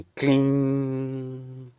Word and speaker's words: क्लीं: से पढ़ते हैं परंतु इस बिंदी का सही उपयोग इस अनुस्वार का सही उपयोग क्लीम का के साथ तब है जब आप इसको अंत में ग और म का उच्चारण करे बिना ही छोड़ दें क्लीन क्लीन क्लीन यानी इसमें म और ग का उच्चारण ना हो यह वह बिंदी है